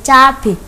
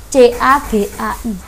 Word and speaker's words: cabai: Nah, tulisannya yang paling benar atau kata bakunya itu cabai, bukan cabe, tidak C-A-B-E tapi C-A-B-A-I, cabai.